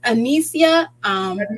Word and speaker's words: Anysia: My name is Anicia. That's how it's Anicia. pronounced. How you spell it is Anysia.